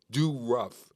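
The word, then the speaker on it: Dorough: him Bobby Doro and his name is Bob D okay but it's spelled D o let me get it right d o r o u g h dough do Ruff like uh Jeff Vander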